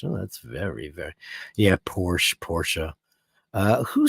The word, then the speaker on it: Porsche: isn't it um Porsche it's German a German brand I mean that's a one Ferdinand porsa that's the guy's name it wasn't Ferdinand Porsche